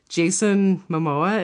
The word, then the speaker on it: Momoa: Jason Momoa, is that how you say his name?